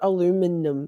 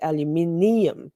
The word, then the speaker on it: aluminium: it out man aluminum in Australia we have it's ium it's not aluminum in Australia it's aluminium we have an i so so we say it how It's spelled here and you'll say it how it's spelled there.